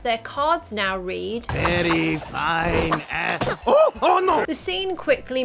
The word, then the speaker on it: phine: they get up, their cards now read, "Very fine Oh no!